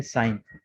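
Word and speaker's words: sign: ठीक है, और नोट करेंगे कि G के बाद N है, इन तमाम में G के बाद N आ रहा है, तो G के बाद जब कभी भी N आ जाए तो G साइलेंट होगा।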